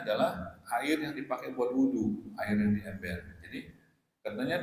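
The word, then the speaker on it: وُضُوء: Kalau wudu beda. Wudu itu kata dasar, perbuatan wudu namanya wudu. Wudu pakai dhammah, wudu gitu kan, wudu.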